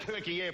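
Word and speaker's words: Türkiye: one canteen is figures pronounced turkey air properly thank you calling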